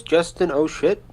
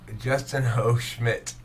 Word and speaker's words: Justin O. Schmidt: Would you say his name was Justin O'Shit? Justin O. Schmidt.